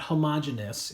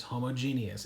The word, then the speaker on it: homogeneous: I'm not mispronouncing that there are two e's in this word okay it's not homogeneous it is homogeneous and I am a